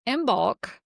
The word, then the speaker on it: Imbolc: So, um, imbulk and that is how I pronounce it. There are a ton of other ways to pronounce it. I've always pronounced the M and the B. Imbulk. Actually, they're kind of more like the M and the B are together.